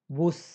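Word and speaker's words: Bus: Like for example बुश, तो ये बुश ही बोला जाएगा, डजेंट मैटर कि इंग्लिश का वर्ड, इंग्लिश में इसको बस कहते हैं, लेकिन यहाँ हमारे पास ये बुश ही है, अलग नहीं है।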